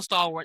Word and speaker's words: Stalworth: Like my name is Stalworth and people still can't get that right. It's literally the word stall and worth combined together.